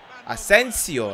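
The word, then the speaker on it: Asensio: Ασένσιο. Έτσι προφέρεται σωστά. Οκ. Okay. Κατά πάσα πιθανότητα μου τα πρίσατε στα comments ότι δεν προφέρεται σωστά. Μόλις το είπε ο commentator και το βρήκα σωστά.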